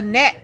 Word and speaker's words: gnat: A gnat, but that starts with a G.